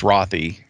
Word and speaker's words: Rathe: and uh today with us we have rothy which I know how to pronounce now after working with you for several years and pronouncing it wrong it's rothy uh is one of our project delivery